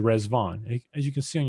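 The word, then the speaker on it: Riḍván: the holy days in the baha'i faith called resvon as you can see on your screen it's spelled r-i-d-v-a-n but pronounced resvon and rizvan is just the an arabic word for paradise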